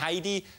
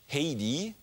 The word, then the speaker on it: Heidi: Man könnte glauben, sie heißt Heidi. Falsch. Heidi.